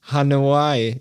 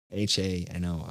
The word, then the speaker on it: Hanoi: I don't know no hanawaii is my capital why h-a-n-o-i I don't know how to pronounce it Vietnam see that I think it's Hanoi right yes Hanoi thank you well done well